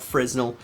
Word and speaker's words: Fresnel: No, it's spelt Fresnel, but it's not Fresnel. It's called a Fresnel.